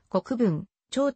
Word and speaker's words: 国分町: 地名になったまた国分町は藩政時代には本町と呼んでいたが現在は国分長という読み方が主流である参照その他通り